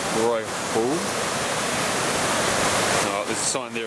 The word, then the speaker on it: Waihou: Waihou. Waihou.